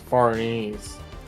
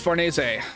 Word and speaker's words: Farnese: I thought it was pronounced Farnese. Nope. It is Fornese or something very close to that. I I thought I thought it was Farness when I was reading the manga, but if